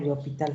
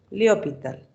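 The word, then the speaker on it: L'Hôpital: no, pero mejor este límite le hallo por L'Hopital.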